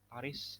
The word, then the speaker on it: Paris: Paris dibacanya Paris. Paris. S-nya nggak dibaca, Paris.